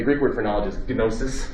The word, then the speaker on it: gnosis: word for knowledge is gnosis you pronounce the g well gamma gnosis and so what is